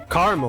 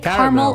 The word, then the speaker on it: caramel: Caramel. Do you say caramel or caramel? Pecan or pecan? All are correct.